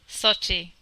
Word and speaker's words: Sochi: Is it Sachi or Saki? Sochi.